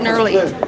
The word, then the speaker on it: Nwerle: It's spelled N-W-E-R-L-E. It's pronounced Nurley. Nwerley. Nurley. Nurley. So Just the rolls off the tongue. W is silent.